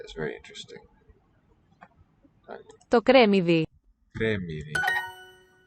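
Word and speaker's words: κρεμμύδι: Cremidi. Close syllable, it seems.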